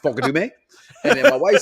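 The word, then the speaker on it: Fukudome: I'm going to put on my Kosuke Fukadume because if you know anything about baseball, his name is actually spelled fuck you do me, right? But it's pronounced Fukadume.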